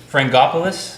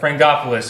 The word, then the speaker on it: Frangopoulos: And, correct me on the pronunciation here. Frangopoulos? That's 100% correct. Frangopoulos is the Greek surname meaning son of Frank.